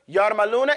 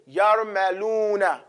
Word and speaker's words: yarmaluna: Yarmaluna is just as it's spelled. Ya, ra, mim, lam, waw, noon. Yarmaluna.